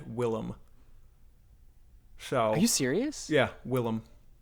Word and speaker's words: Willem: mention the fact that you pronounce his name William Dafoe when it's in fact Willem so you serious yeah